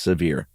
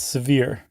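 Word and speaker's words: Sevier: Uh, how do you pronounce that? Is it Sevir County? I think it's severe. Oh, it's it's just severe. I'm almost positive it's severe.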